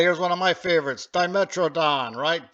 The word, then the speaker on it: Dimetrodon: Hey, here's one of my favorites, Dimetrodon, right? Dimotrodon, the British say. Well, funny people, the British.